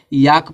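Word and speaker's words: yolk: तो इसको वाक पढ़ेंगे इसी तरह इसको याक पढ़ा जाता है क्यों क्योंकि एल के बाद के है और जब एल के बाद के रहेगा तो एल साइलेंट रहेगा तो इसको याक पढ़ेंगे इसको पालम नहीं पढ़ते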